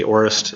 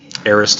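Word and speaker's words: aorist: know yet and actually if you want to be technically correct you'd be Erised people say a orest and it bugs me Erised is actually how you'd normally pronounce it in academic circles and then the second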